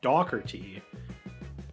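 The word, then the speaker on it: Dougherty: the last name dhy in the UK it's pronounced dockerty with a definite k sound and in the US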